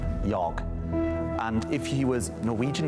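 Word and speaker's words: jag: Cuz I asked him how you say I in his language, which I think is Yog.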